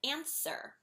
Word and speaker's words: answer: English ah another word answer the W silent another one fasten wait